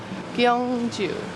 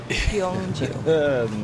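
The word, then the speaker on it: Gyeongju: this is K so whenever it's a gy it's like k k with a little spice on it at least that's what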